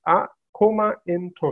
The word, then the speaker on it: Akoma Ntoso: standards for different sectors so how do we pronounce our comment oh so it's a coma intro so that is the right way to pronounce